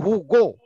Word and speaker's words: Hugo: Ente tahu nggak sastrawan orang Perancis itu Hugo namanya, bukan Huwa Jawun. Hugo.